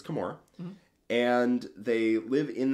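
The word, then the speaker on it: Commorragh: I learned the pronunciation of that recently. I always called it Kamarog, but it's Kamora.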